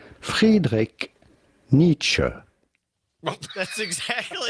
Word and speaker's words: Friedrich Nietzsche: Now, his name in German would normally be pronounced Friedrich Nietzsche. Friedrich Nietzsche. However, in English, his name is normally pronounced Friedrich Nietzsche.